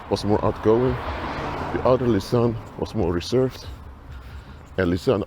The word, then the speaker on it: Lisanne: Or Lisanne, or you pronounce it in Dutch. So, Lisanne was the one who